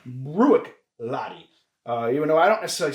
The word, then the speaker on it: Bruichladdich: I mean, you would think it's Bruichladdich. Yeah. And it's not. It's Bruichladdich. And actually, if I'm really being technical, I think it's Bruichladdich. All right. And so I think the I in the almost like Buick. Yep.